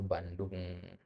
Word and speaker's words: Bandung: nyebut nama-nama tempat semisal Bandung, ya, ya, itu nggak perlu dieja dengan ejaan Arab ya, Bandung, ya. Ya, nulisnya memang begitu ya, Bandung itu pakai jim dia. Ya, tapi pengucapannya tetap Bandung.